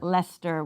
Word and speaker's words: Leicester: up later confirmed that we shall be pronouncing it leicester square lester we don't have to mess around in there there's all kinds of extra letters in there yeah cause we we